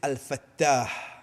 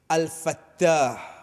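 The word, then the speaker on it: الفتاح: qui est dans l'iman, comme au Getli, c'est Al-Fattah. Al-Fattah. Nous vous trouve la lettre ta, quand nous veut dire nous trouver, veut dire qu'on nous peut prononcer lui-même nous trouver Al-Fattah.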